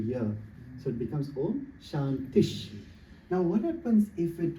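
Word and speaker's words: शान्तिः: So it's like Om Shantish. So that this accent over here is like, you could say, is a sh sound.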